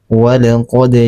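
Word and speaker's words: وَلَقَدْ: Nah, ini qalqal sugra karena di tengah kalimat cara membacanya dipanculkan secara ringan. Walqodja walqad ja.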